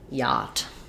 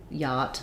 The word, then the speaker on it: yacht: odd with its spelling the ch is silent we have the ah sound so we have first syllable stress and it basically sounds like yacht um with the ah vowel yacht not rhymes with not